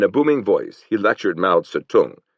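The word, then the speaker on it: Mao Tse-tung: In a booming voice he lectured Ma Satung. He pronounced it Mustang Joan lie and their aids on five points of possible accord with the Quuoman tong.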